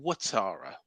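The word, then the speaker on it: Ouattara: I believe it's Dongo Watara, but it's spelled Atara.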